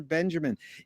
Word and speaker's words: Benjamin: It's just like Walter Benjamin and people, even Laurie Anderson. It's Walter Benjamin.